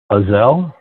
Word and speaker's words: Uzzel: Like muzzle without the M? Hey, all that's right. It. All right. Brother Bob. I've always, Uzzel. That's the first time I've heard that used. I've always said it rhymes with puzzle.